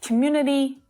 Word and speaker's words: community: to remember is that we definitely want to hear that vowel sound on the end it's not a stressed syllable so it's a really soft sound but it must be there not community opportunity responsibility